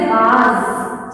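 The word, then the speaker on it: बाज़: ठीक है, ये इसको हम बोलते हैं नुक्ता। ये बिंदी जो नीचे लगती है, जा के बाद होता है नुक्ता। जा से जहाज, लेकिन इसका जो उच्चारण होता है ज। ठीक है, तो ये शब्द बनेगा बाज।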